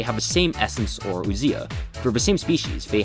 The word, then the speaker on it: ousia: I'll actually pronounce it Greek style to differentiate ousia.